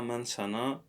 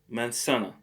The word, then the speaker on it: manzana: new language so la mansana the apple notice that the letter z or the letter uh zd is pronounced like s mensana this is something else